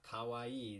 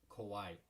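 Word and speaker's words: 怖い: emo guy kawaii kawaii remember it's not kawaii that's cute it's kauai all right how would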